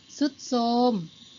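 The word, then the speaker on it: ทรุดโทรม: ซอ เห็น ไหม คะ นก อินทรี ทร เป็น เสียง ซอ ก็ คือ อินทรีย์ เซา น่า ทร เป็น เสียง ซอ ใช่ อ่าน ว่า เท ราต์ นะ คะ ไม่ ใช่ นะ หัน ว่า เซา ทรุด โทรม พุทรา ทร จะ ออก เสียง เป็น ซอ เลย นนท์ 4 นะ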